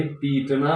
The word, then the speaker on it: पिटना: की मात्रा होगी, और पिटना यानी खुद पिट जाना, इसमें छोटी की मात्रा होगी उच्चारण के दृष्टिकोण से भी और ऐसे भी। पीटना और पिटना, है ना। पीटना में ज्यादा समय लग रहा है तो बड़ी की मात्रा, और पिटना कम समय लग रहा है इसलिए छोटी की मात्रा।